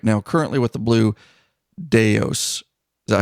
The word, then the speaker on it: Blue Daos: and then also right now currently with the blue deos is that how you say it John that